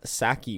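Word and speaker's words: Psaki: the um press secretary jenn sackey with the silent p for whatever reason um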